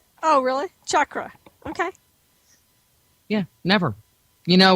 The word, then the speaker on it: chakra: to say this word it's chakra it's not chakra it's cha chakra chakra I have no phonic